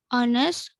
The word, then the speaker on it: honest: words in english where it's possible to drop the h and we don't furnace it word likes honest honor air and hour there are number of